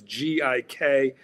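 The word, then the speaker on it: กิ๊ก: Well, it's spelled in Thai, but you know, if you're going to spell it in English, it's G-I-K. Pronounced gik.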